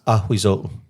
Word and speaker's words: Ahuizotl: Ahuzotl? I don't know. Can you pronounce that? Yeah. It's Ahuizotl.